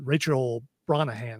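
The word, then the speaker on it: Rachel Brosnahan: And and uh Rachel Bronahan, I think is how you say her last name.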